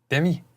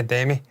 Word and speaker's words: Demi: Demi, obviously, or Demi, as I've since discovered her name, apparently it's pronounced Demi Moore. Demi? Fucking hell, what? I thought it was Demi for years.